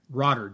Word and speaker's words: Rotter: I want to welcome my guest on rodder did I pronounce that that correct you did you did